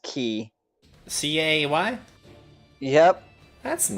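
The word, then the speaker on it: Caey: hate being that guy I love it it's key but it's it's not K it's pronounced key c-a-e-y yep all right and did you know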